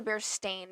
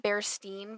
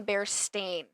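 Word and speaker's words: Berenstain: most people pronounce it be Steen Bears yeah but it has never been the bear Steen Bears it's always been the bear stain a i n not e i n what okay I know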